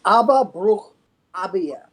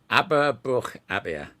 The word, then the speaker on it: Aba Brukh Aabye: to be confused with the musical group, but Aba Brukh Aabye, I believe. You can tell us Abba. Should we pronounce it? Not we're going to do that. It's Aba Brukh Aabye. Aba Brukh Aabye.